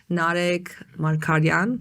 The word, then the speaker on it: Narek Margaryan: Narek Margaryan, did I pronounce that correctly?